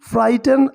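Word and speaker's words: frighten: तो वो म्यू म्यू करता था loudly to फ्राइटन other animals. Loudly यानी तेज तेज, टू फ्राइटन मतलब होता है डराना, फ्राइटन, ठीक है, जी एच साइलेंट है, राइट, इसमें जी एच साइलेंट है।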